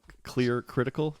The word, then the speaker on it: ClearCritical: You also have, as I mentioned, a firm called ClearCritical. Have I said it right? Yeah, ClearCritical.